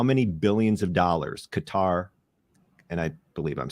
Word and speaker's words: Qatar: Can you take a guess at how many billions of dollars Qatar, and I believe I'm saying that close enough. You're saying it right. Qatar.